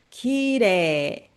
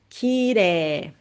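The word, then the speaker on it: きれい: Quando tem a vogal e i, i juntinho, você vai ler, pode pronunciar como se fosse e dois s, né? E a vogal é prolongada. Kiré. Kireé.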